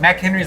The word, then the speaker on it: MacHenry's: is the name like mack henry's like mac and cheese okay that's cool so